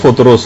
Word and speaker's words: فطرس: فطرس کا، فطرس۔ اچھا، اس کو الگ الگ طریقوں سے لوگ پکارتے ہیں، لیکن اصل میں اس کا جو تلفظ ہے وہ فطرس ہے۔ اچھا، اس فرشتے کا